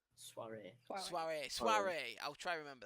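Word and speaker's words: soirée: Why does your associate need extracting from this Suri? Sorry if I'm mispronouncing that, by the way. Soiree.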